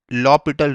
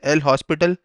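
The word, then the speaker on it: L'Hôpital: अब बात करते हैं एक इम्पॉर्टेंट रूल की, जो कि है लॉपिटल रूल। उसको वैसे एल हॉस्पिटल भी बोला जाता है, पर उसका करेक्ट प्रोनाउंसिएशन है लॉपिटल, लॉपिटल्स रूल।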